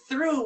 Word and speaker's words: through: Then take thought, drop the T, put R between the H and the O, and you get through.